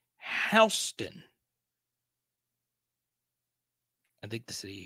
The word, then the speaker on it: Houston: So the pronunciation of Houston is actually Houston.